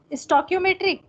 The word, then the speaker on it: stoichiometric: Ma'am ये जो STOICHIOMETRIC ये जो कुछ भी लिखा है इसका मतलब क्या होगा, इसकी प्रोनाउंसिएशन? स्टोक्योमेट्रिक।